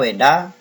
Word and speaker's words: Veda: Ya, dibaca Weda meskipun tulisannya Peda gitu ya. Ini bahasa Sanskerta. Tulisannya Peda tapi dibacanya Weda.